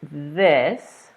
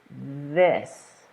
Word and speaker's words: this: a sound coming out so in the word this you want to do two things you want to stick your tongue out like in the picture and then you want to make sure you're feeling this moving you're feeling vibration and that's what voiced means so together this this and I hope you're